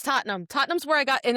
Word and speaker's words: Tottenham: It's Tottenham.